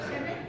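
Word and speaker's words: Shchedryk: And it comes from a Ukrainian song, Shchedrik. Did I say it wrong? Shchedrik, thank you.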